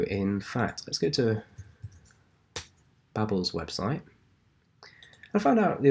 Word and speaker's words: Babel: What we can do, in fact, let's go to Babel's website. I found out the other day it is called Babel, not Babel. So I feel much more comfortable pronouncing it Babel.